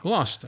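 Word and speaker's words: Gloucester: Glouster.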